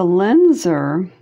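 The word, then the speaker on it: Lisner: It's a Linzer.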